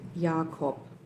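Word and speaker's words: Jakob: uh found a German a native German speaker to pronounce this correctly for us. So, here it goes. Okay. I'm going to loop it a couple of times here. Kitzfeld Yakopitzfeld Yakop.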